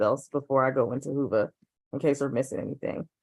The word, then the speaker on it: Whova: want to do to prepare is download the Hoova app. It is spelled WHOVA.